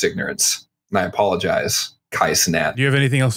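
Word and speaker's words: Cenat: How do you pronounce his name? Sinat.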